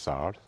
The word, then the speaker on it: SAR: So again, South Korea is planning to launch 4 SAR radars, which in South Korean intelligence community is pronounced SAR. So essentially, it treats SAR, no initials, but also proper noun.